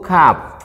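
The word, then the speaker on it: كاف: ditengahnya ada Hamzah di Hai ini namanya huruf Kaf Hai Bukankah yah tapi Kav bukan huruf k tapi huruf Kaf Iya setelah itu ada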